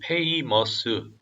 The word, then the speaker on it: famous: heroes and famous 이것도 famous 음절이 네 개가 아니라 음절이 두 개입니다. famous warriors of ancient times.